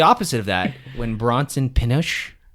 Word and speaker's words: Pinchot: Now, the opposite of that, when Bronson Pinchot, I pronounce it Pinchot. Pinchot? I say Pinochet, but I know that's not correct.